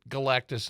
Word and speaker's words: Galactus: Is that how you Galactus. pronounce the villain? Yeah. I always want to add an extra syllable in there.